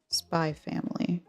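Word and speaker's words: Spy × Family: I am a fan of I do quite like spy family. That's how you say it.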